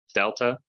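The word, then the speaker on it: δέλτα: Delta makes a D sound, really more like a the sound, a voiced the, but if you pronounce it like just a D, it'd be fine.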